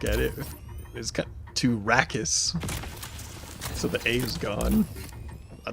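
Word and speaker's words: Rakis: And it's saying Rakus. It says of rakus like and it's spelled r a k i s because the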